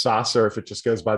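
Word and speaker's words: SaaS: listeners a little bit yeah i always just call it saz like just say this because there's two two a's there in a row but i've heard it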